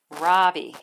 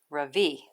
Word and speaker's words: Ravi: stands up really straight my name is not robbie he says it's pronounced ravi i'm not going to